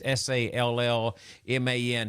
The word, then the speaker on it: Sallman: This traditional American image, it said that it originated in Europe, but it was Warner Salman, who I think that's how you pronounce it. It's Sallman.